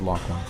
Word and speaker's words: Laughlin: He pronounced it Laughlin.